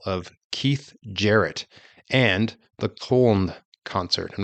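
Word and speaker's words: Köln: Keith Jarrett and the col concert I'm not sure if I'm pronouncing that right it's German k o Ln the col concert a now Infamous recording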